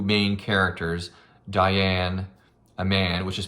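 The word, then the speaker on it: Daiyan: Luckily, our 2 main characters, Diane, a man, which is spelled D-A-I-Y-A-N, and the poet I mentioned before,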